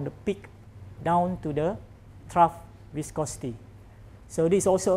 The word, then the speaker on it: trough: h r o u g h that's true t-r-o-u-g-h if I'm second we pronounce it trough trough it's rough viscosity but we are not